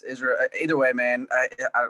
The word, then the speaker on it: Israel: Is I want to make sure I'm pronouncing your name right. Is it Israel or Israel? It's Israel. Either way, man. I like Israel, whatever, however you want to say it.